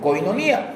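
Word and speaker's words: κοινωνία: Esta palabra se deriva del sustantivo griego koinonia o koinonia, porque yo cuando la leo no tiene el acento en la i, pero siempre se conoce como koinonia, que solía usarse para referirse a asociación, comunión, compañerismo o participación conjunta.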